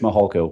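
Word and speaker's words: Mihalko: My name is Mahalo.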